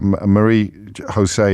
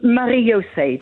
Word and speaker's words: Marie-José: But before that, Marie Jose is in Claygate in Surrey. I probably mispronounced your name then. You did. Yeah. How should I have said it? It's Marie-José, because my parents were Dutch.